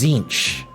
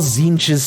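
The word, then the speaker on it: Tzeentch: and by the way that is the closest I can get to a proper pronunciation of this of this God's name I've been saying it zinch this entire time and no one has corrected me yet so I'm gonna keep saying it that way I'm gonna keep saying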